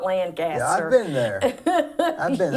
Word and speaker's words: Lancaster: I learned how to say it the right Yeah, way when I what was moved there. It's Lancaster. Lancaster, not Lancaster.